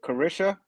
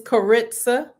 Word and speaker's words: Karitza: Is it Carisha? It's Karitza. Karitza.